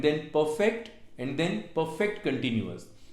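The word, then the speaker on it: continuous: सो इंडेफिनट, then कंटिन्यूअस, कॉन्टिन्यूज नहीं कंटिन्यूअस, कंटिन्यूअस, कंटिन्यूअस, and then perfect and then perfect कंटिन्यूअस।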